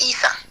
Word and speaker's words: Isa: It's Isa. Isa? Isa, yes. Isa. Okay. Like Lisa without the L.